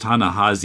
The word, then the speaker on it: Ta-Nehisi: I don't know why, but it's pronounced Ta-Nehisi, even though there's an I there.